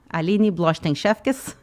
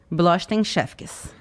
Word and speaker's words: Blochtein-Szwkies: Mas eu disse, não, eu quero manter meu nome, eu quero manter Blochten-Shefkes. .. Isso, é BLOCHTEIN-SZWKIES. Blochten-Shefkes.